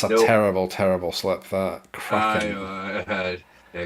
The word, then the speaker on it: Kraken: So yeah, we really got to work on like making sure there's a good solid N sound at the end of that word. When we are saying Kraken and not cracker.